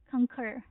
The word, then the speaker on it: concur: Concur. So this stress is on the second syllable which is concur.